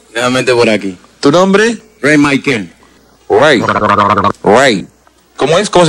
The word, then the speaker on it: Rey Mikael: Ray Michael. Ray. Ray. ¿Cómo es? ¿Cómo se escribe?